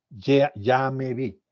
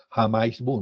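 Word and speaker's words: jamais vu: es el lame bi se escribe jamis bu pero no se pronuncia así se pronuncia ybi y hay que aprender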